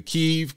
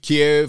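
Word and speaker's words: Kyiv: different points and all over they went to kiev kiev however you want to pronounce it levi which is right next to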